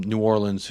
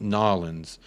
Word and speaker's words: New Orleans: lot of people from New Orleans who came over and they told me you don't say New Orleans it's pronounced nawlins and you know what